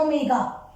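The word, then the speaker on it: ω: ये मैंने एक लिखा है w, ये w नहीं है, इसको प्रोनाउंस करते हैं हम ओमेगा। क्या बोलते हैं इसको, ओमेगा, ठीक है।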